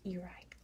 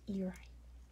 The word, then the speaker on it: Airai: But I am like 90% sure that this part of Palau is pronounced Airai. It looks a lot like Airai in English, but in Palauan I am pretty sure it's pronounced Airai, which is really neat.